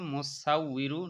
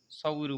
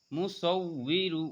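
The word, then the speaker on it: مُصَوِّرُ: মুসাউইরু উই ইরু, অনেকে বলে মুসাউ ইরু, ইরু হবে না, ই যদি বলেন তাহলে হামজা হয়ে যাবে, এখানে ওয়াজের উই।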